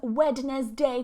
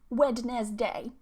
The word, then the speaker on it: Wednesday: Now, I hear this one pronounced as Wednesday quite a lot. Wednesday. But this D here is silent, and we say Wednesday. Wednesday. So it becomes almost like this.